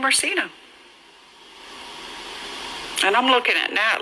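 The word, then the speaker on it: JaSena: name her Cena?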